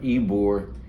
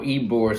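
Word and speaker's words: Ybor: It's spelled Y B O R Eore and it's the area, it's not like right downtown in the central business district.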